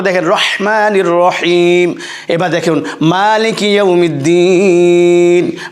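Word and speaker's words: مَالِكِ يَوْمِ الدِّينِ: রহমানির রাহিম এবার দেখুন মালিকি ইমিদ্দিন মা টানতে হবে একই আমরা বলছি মালিক ইউমিদ্দিন যিনি মাস্টার অফ ডে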